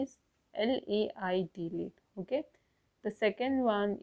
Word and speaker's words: lait: Okay, lait. The pronunciation would be same for all, but the spelling and meaning would be different.